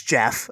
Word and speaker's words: Gef: You know, so anyway, and whatever it's it's Jeff.